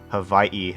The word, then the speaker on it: Hawaii: Hawaii, as it's actually pronounced.